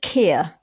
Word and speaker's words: Keir: They're from Brizzle, and they are called Kia. okay. So give them a listen. Kia. And it's spelled Keir.